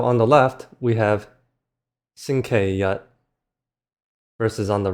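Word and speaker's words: 星期日: Anyways, go ahead and try to pronounce these two as well. So, on the left, we have xīngqīrì versus on the right xīngqīyī And again, with the Google voice we have Sunday. xīngqīrì versus Monday.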